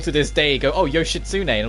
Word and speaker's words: Yoshitsune: pronounce it it's not yoshitsune i know a lot of people like to call it that but no you don't pronounce the tea at all it's yoshitsune the t is completely silent which is like really